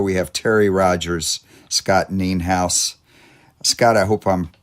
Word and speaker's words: Nienhaus: on songwriter Studio we have Terry Rogers Scott nean house Scott I hope I'm pronouncing your last name correctly yes you are